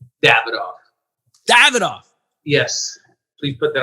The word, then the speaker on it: Davidoff: How do you say your damn company? I mean, I've heard Davidoff. I've heard Davidoff. What is the pronunciation, my brother? Davidoff.